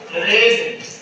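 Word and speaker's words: read: अब ये देखिए रीड रेड रेड रीडिंग रीड्स व spelling is same but pronunciation is different okay य क्या है स्पेलिंग सेम है न इसका प्रोनंसिएशन क्या होता है डिफरेंट होता है तो डिफरेंट होता है तो कहने का मतलब ये हुआ हैव यू रेड इंग्लिश इसको रेड पढ़ेंगे अब कैसे ये पता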